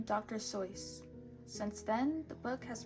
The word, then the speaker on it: Dr. Seuss: And yes, it is pronounced, the correct way of pronouncing it is Dr. Seuss. Not Dr. Seuss, but you can pronounce it however you want.